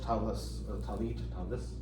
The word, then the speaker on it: tallis: If you have a large tallis, Yiddish pronunciation, or Ashkenaz pronunciation, like I do, you